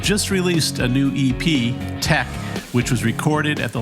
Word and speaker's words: Teche: you have a new ep out uh called tech is that how you pronounce it which is uh tech it's tech it tech it's a made up